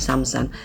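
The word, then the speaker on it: Сапсан: menaiki kereta menuju Moskow namanya samsan tulisannya camcah ya bacanya samsan tadinya saya mengira ini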